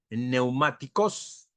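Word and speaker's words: πνευματικός: Y él añade el adjetivo espiritual, o sea, los dones espirituales, que en griego es la palabra neumáticos. ¿Escuchan esa? Neumáticos. Empieza con P, igual que en neumatología, neumáticos.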